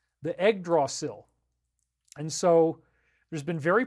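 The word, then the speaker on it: Yggdrasil: probably should have but even though it's pronounced egg draw sill it's spelled y g g so egg is y g g y g g d r s i l the egg draw sill and so there's been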